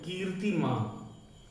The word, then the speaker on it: कीर्तिमान: तो शिक्षा, देशभक्ति, कीर्तिमान, कीर्ति ऊपर वाला जो र होता है उसे पहले पढ़ते हैं, कीर्तिमान, प्रतिभाशाली, दृढ़ निश्चय, अमेरिका, अमेरिका भी लिखा जाता है, अमेरिका, ये दोनों शब्द सही हैं।